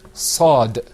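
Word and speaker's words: صاد: Now, you got to be careful with your sad, because if you don't purse your lips and say sad when you pronounce it, the letter's not going to come out right.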